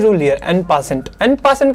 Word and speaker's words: en passant: This rule is known as एन पासेंट। ये एक French word है, इसलिए इसको आपने कहीं जगह ऑन पोजॉन करके भी सुना होगा, because its origin from French, जिसकी प्रोनाउंसिएशन थोड़ी सी अलग होती है।